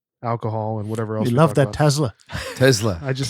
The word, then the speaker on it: Tesla: the stock market and Teslas and watches and alcohol and whatever else that Tesla Tesla I just said that to annoy you by the way it is pronounced with an S thank you B I'm